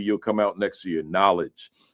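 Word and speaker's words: Knowlej: Knowledge. Uh K N O W L E J. Right. That's how it's spelled.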